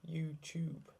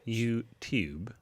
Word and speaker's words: YouTube: YouTube. YouTube. No, it's not tube. It's not. There's no CH in it.